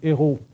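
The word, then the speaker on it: Eyraud: c'est déjà un nom, lorsque Eugène Hérault, ça s'écrit E-Y-R-A-U-D, lorsque Jeanne Hérault arrive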